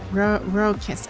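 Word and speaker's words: raucous: let's let's check this out rugus means ruckus Ro kiss. Okay, that's how you pronounce it.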